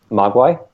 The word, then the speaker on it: Mogwai: on your Chinese - pronunciation for that in China Mogwai maka there you go good correct um so